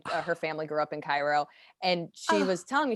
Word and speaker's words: Cairo: in pismo he was uh lived in cairo cairo yes that's how you pronounce it i always caro cairo yeah and uh yeah and i i